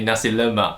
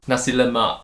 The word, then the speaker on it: nasi lemak: so what's your favorite food in malaysia now nasi lemak actually pronounced it very popular nasi lemak no i didn't make it more english sounding say nasi lemak how would you say it nothing nasi lemak yes do you know what it means literally